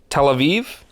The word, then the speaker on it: Tel Aviv: in love with that 100% next we have Tel Aviv is how you pronounce it Tel Aviv I've never even heard of it I have